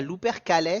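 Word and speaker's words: Lupercales: je vais dire l'upercal L p e r C a l e s alors je te dirais louer calè si c'est un peu du latin où il fallait un peu tout prononcer ça fait plus stylé l'upercalus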